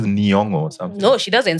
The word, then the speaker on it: Nyong'o: name so that people hear how it's like Nyong'o. When she was in Hollywood, she had to pronounce it so people are like, oh, that's how you pronounce it.